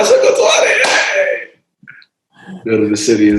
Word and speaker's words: Musokotwane: Musokotwane. Exactly right. Yeah, you got it. Musokotwane.